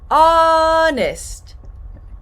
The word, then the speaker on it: honest: Honest --don't pronounce this h. Not “h”onest no honest; you tell the truth.